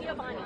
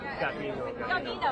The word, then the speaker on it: Gavino: Is it Giovanni? Gavino.